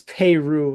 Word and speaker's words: Peyroux: I think it's Peyroux is the way to say it.